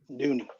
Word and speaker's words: Duny: Oh, is that Dunny or Dooney? Dooney. Dooney. Okay, I like it.